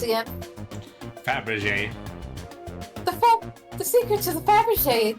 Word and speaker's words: Fabergé: You are telling me how to pronounce this one damn egg. Now answer me, Grady. Fabergé.